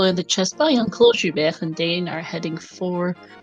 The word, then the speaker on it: JuBer: To know also that JuBer, that is how you pronounce that, and Dane both got a bomb off a guard early, so that's nice.